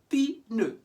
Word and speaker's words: pneu: Now, in French, words that end in PN, you pronounce the P like in English, P, pneu, pneu. Whereas in English, we forget about the P and focus on the N, like in pneumonia.